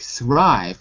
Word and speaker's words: thrive: If there's only one consonant, like thrive, 1 V, it shows you it's the long sound, so I will be pronounced I. Thrive.